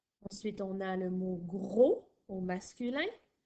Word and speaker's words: gros: Ensuite, on a le mot gros au masculin qui s'écrit G-R-O-S, qui est muet au masculin.